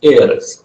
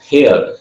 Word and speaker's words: heiress: The right pronunciation of this word is heiress, heir, not hair. Hair, ये hair नहीं है, heiress to Belmont.